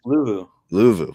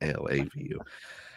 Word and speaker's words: Luvu: What was it, Lavu? Is that how you say it? Luvu. Oh, Luvu, not Lavu.